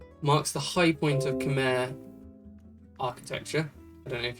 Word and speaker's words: Khmer: Khmer is how they said to pronounce it.